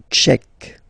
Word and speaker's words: tchèque: La République tchèque. So remember, Q-U-E, K, K, Tchèque. La, and then here as well, République. La République tchèque.